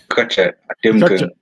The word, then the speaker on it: Nkiacha Atemnkeng: Well, that Nkiacha you said is like an anglicized version. My name is Nkiacha Atemnkeng. That's like Bangwa pronunciation.